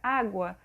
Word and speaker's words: água: aqui exemplos na palavra água onde a gente pronuncia água a gente consegue ouvir o sonzinho de um